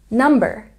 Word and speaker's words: number: There's a stress on the first syllable in digit, digit, and a stress on the first syllable in number, number.